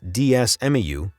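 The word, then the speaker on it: DeSmuME: created a DS emulator called DS meu yes that's how it's pronounced just one year after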